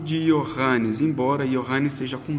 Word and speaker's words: Johannes: Mas a pronúncia, isso pulverizado pela Europa toda, esse Johannes vai acabar grosseiramente sendo reduzido a I ao invés de J. O correto seria SJ.